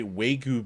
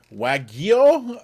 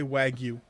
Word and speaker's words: wagyu: how to pronounce it i'll say weigoo beef but that's not how you pronounce it so sure reverse the g and the y yeah i don't like